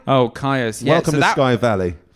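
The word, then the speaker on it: Kyuss: At 7, Caius. Am I pronouncing that right? Oh, Caius.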